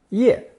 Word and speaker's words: 业: It's pronounced fourth tone, ye, ye.